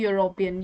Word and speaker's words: European: बात कर रही हूँ, लेकिन उनका जो pronunciation होता है वो consonant sound के जैसे होता है, जैसे कि European, य sound है यहाँ पे, य is actually a consonant, तो हमने अ लगाया।